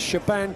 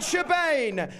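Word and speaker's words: Siobhan: pronounce her first name is it sheban no is it shioon no is it Shaban I'm not even sure of course it is Shaban the cand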